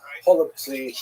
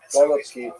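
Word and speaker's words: голубці: Holubtsi, right? Some people would say with the German or with the Russian pronunciation, golubki, which is cabbage rolls, right?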